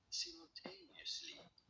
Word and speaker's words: simultaneously: This is normally said as simultaneously. You don't want to stress on the third syllable on the tail.